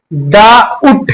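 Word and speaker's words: doubt: तो अब इसको हम जो है डाउट बोलते हैं इस वजह से क्योंकि हमारा टी से पहले हमारा ये जो है बी आया है तो बी हम जो है साइलेंट पढ़ेंगे, डाउट पढ़ेंगे, डाउट नहीं पढ़ेंगे।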